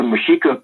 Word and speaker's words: Mexica: And the Spanish couldn't pronounce the X in our language, so they called it Mexico. And, Mexicanos. Right. Which, after 500 years, whatever, right? Right. But it was actually Mexica.